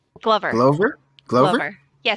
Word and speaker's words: Glover: Glover. Glover? Glover? Glover. Yeah, so it's like Okay. glove with an R.